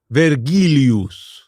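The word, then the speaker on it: Vergilius: We used We pronounced the V as a W.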